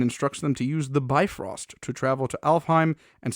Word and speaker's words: Bifrost: to extinguish the mist so i know that some people also pronounce it defrost so i'm sorry i'm not meaning to be disrespectful i've always heard it said by frost personally uh so yeah